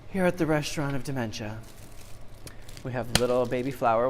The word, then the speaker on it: DemenCha: me a little bite my name is dementia so it's just like it's it's spelt like it's sound it's d-m-e-n-c-h-a you can